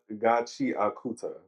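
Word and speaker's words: Gachiakuta: It's pronounced Gachi Akuta.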